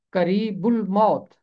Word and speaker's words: قریب الموت: یہ لفظ آیا ہے۔ اس کا تلفظ ہے قریب الموت، قریب الموت۔ الف لام کے بعد میم ہے، میم حرف قمری ہے۔ جب الف لام کے بعد حرف قمری ہے تو پھر لام کی آواز خاموش نہیں رہتی، بے ملے